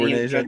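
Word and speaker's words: Regé-Jean: You got Kate Blanchett, Michael Fassbender, is it Raja-Jean Page? I don't know how you say it. The guy from Bridgerton. Raja-Jean. Oh, Renee Jean Page? Yeah. Oh, Renee. Yeah, Renee. That doesn't look like Renee to me, but it's French. He's French.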